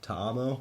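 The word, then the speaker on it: Ta'amu: the XFL and signed Jordan how would you pronounce that to mine Tom Tom oh yes Jordan Tom OH quarterback from st.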